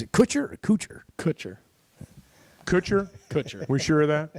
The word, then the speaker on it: Kutcher: coocher 47 is it coocher or coocher ccher Kutcher Kutcher we sure of that yes okay so I would have said cutcher Thank You Edward it's not how Bo pronounced